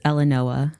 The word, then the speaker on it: Elenoa: It's Elenoa. Elenoa. Yeah. So it is spelled, sound like it's spelled. Yes, it's exactly how it's spelled.